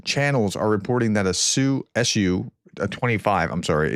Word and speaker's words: Su: Russian channels are reporting that a sue su 25. I'm sorry. It's old habits die hard. I've been told that I should be pronouncing TU or SU Sue.